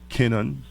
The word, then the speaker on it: Kenon: Marci Kenon, right? That's right. Did I pronounce it right? You remember Larry Kenon, the basketball player? Okay, got you. Like that.